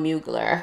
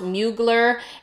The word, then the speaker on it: Mugler: So obviously the French way, I can't really say, but I've heard it pronounced Mugler and Mugler as far as the Americanized way to pronounce it. So I'm going to go with Mugler.